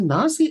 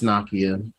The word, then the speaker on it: Nakia: And they show, is it Nazi? Have I been saying her name wrong the whole time? It's Nakia. Oh, it is. It's definitely Nakia. Nakia.